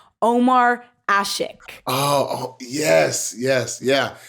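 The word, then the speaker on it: Ömer Aşık: in his last name there's like a letter I've never seen before but I think you pronounced his name Omar ashik oh oh yes yes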